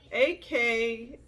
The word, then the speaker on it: Akhekh: It's Akheknan. I don't know. Akhek? I don't even know how to say it, girl. But I swear I did the research. Okay, so it's Akhekh. If you want to learn